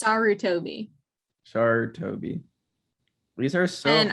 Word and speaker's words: Sarutobi: It's Sarutobi.